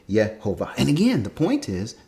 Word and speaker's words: Yehovah: manuscripts thousands of times where the scribes said yet Hova and again the point is described knew how the name was pronounced just like when they say Val mer